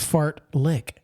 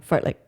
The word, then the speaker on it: fartlek: t l e k but it's pronounced fart lick yeah fart lick fart lick mm I